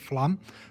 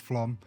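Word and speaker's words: Flåm: was to Flam or as it looks like it's spelled Flam, but it is pronounced Flam.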